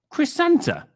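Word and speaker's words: Krrsantan: spelt what dang on it's pronounced chris santa like christopher santa really chris santa cruz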